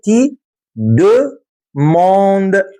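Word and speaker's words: tu demandes: الكلمه دي كمان اسمها تي دو موند تي دوموند تي دوموند تاني كده تي د موند ما تنطقش الاس ولا الاو يا حماده انت اخرك هنا تي دوموند تي دوموند معناها انت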